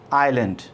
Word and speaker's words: island: Next है ऑल is oblique are silent on this आइलैंड, ISLAND, pronunciation आइलैंड, ठीक है।